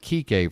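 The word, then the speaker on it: Kiké: Be sure you pronounce it Kike, folks. Don't, it's not a 1-syllable name. That would be bad.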